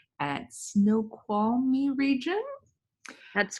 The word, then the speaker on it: Snoqualmie: We're watching a 4K virtual forest walk along Middle Fork Trail, and I might pronounce this wrong, at Snoqualmie region.